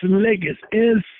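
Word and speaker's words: legis: Well, let me spell it first. It's a two-word definition. ENS, one word, LIGIS. It's ligus.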